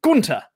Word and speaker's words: Gunther: to remind everyone that gunther does not have a th in the name the h is silent yes it is technically gunter supposedly i'm not calling